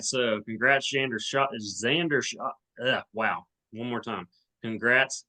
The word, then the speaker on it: Schauffele: Shoffley. Shoffley. Okay, I couldn't figure that out. All right, so congrats, Xander Schauffele.